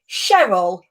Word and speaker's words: Cheryl: now answer me this is it cheryl or chell because he's getting awkward i'm getting awkward with myself it's cheryl with an s but spelt with a c so you say it as in cheryl cheryl crowe the cylinder yeah okay